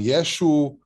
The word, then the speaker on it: Yeshu: i knew who uh we called him yeshu which is just a galilean pronunciation the word yeshua um and in english